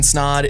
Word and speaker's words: Snod: My name is Snod. It rhymes with odd, and you're listening and watching the Rhymes with Odd podcast.